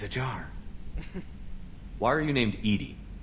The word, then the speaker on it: EDI: See what EDI has to say.